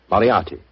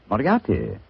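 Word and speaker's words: Moriarty: Moriati. Moriati.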